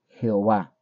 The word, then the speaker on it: Jehová: que tener ahí escrito la palabra que se lee de esta forma como yahuah yahua ahora la pronunciación por la transliteración es Jehová Por eso mis hermanos